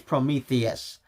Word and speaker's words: Prometheus: ago and now I can't remember how it's pronounced which I I swear it's Prometheus there we go that's the word but with